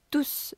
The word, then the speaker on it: tous: Tous tes amis te le disent. Adjectif, je ne prononce pas le S. Tous te le disent. Le pronom remplaçant le groupe nominal, je prononce le S.